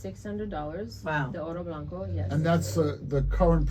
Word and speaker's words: Oro Blanco: Davidoff Oro Blanco. How do we spell that?